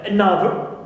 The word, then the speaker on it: another: And also we have the word another. Clear? Another here also. I have another is na is stressed and not on this prefix.